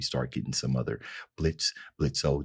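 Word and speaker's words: Blitzø: getting some other Blitz blitzo the O is silent withes geter when I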